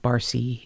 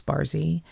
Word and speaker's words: Barsi: b-a-r-s-i but pronounced bar it's not bar c it's barzi and and maria meet